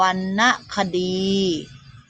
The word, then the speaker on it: วรรณคดี: อ่าน ว่า ธรรมดา วัน คณะ คดี อ่าน ว่า วรรณคดี อุปสรรค อ่าน ว่า อุปสรรค ผิว พรรณ อ่าน ว่า